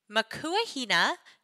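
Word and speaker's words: Makua Hine: way that you guys intended them to be pronounced so Makua Hina makua hane a she told me means mother in Hawaiian and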